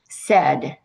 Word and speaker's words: said: Said, the AI making the eh sound. You just have to learn that when you hear eh in said, you need to spell it S-A-I-D.